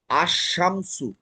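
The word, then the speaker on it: الشمس: এটা আমরা এই এক্সাম্পলে গিয়ে দেখবো, এরা অবশ্য বলছে দেখেন এর অর্থ হলো নির্দিষ্ট আর্টিকেল আলে লাম উচ্চারিত হবে না এবং সূর্য অক্ষরটি দুইবার উচ্চারিত হবে।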